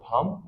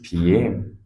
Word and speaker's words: PM: Did anybody pronounce the word pump? No, it is PM, Prime Minister.